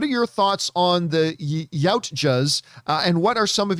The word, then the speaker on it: Yautja: with their lore is the Yatuja, pronounced Yautja.